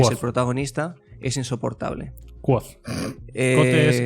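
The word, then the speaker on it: Kvothe: Lo primero es que Quote, que creo que es así como se pronunciaría, que es el protagonista, es insoportable. Quoth. Quote es el bartender. Quoth es como se pronuncia el personaje.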